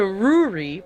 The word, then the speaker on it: Ruri: A letter from Fia to Ruri. By the way, I was pronouncing it Rory, but it's actually Ruri.